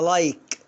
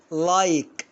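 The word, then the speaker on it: like: بصوا يا جماعة، القاعدة اي حرف ساكن اي تبقى اي حرف ساكن اي تبقى اي. اهو ادي اي وراها كي حرف ساكن وادي الاي، فانطقها ايه؟ تمام، انطقها لايك. شوف لايك، الاي هنا ظاهرة.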